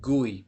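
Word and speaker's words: גוי: Here's the word that they call but it's really gooey because it's gamala yod gooey.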